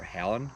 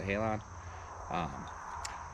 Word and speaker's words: Halon: i'm shooting is the matthews halon or halen however some people pronounce it but i pronounce the halon 70 pounds the halon 6.